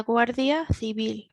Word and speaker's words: Guardia Civil: This is maybe one for the pronunciation, the th sound, and then the soft B, la Guardia Civil.